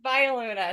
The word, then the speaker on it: Viola: Viola. Am I pronouncing your name right? It's Viola. So, I play violin.